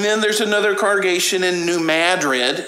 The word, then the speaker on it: New Madrid: And then there's another congregation in New Madrid. It looks like it should be pronounced New Madrid, but it's Missouri, so they call it New Madrid.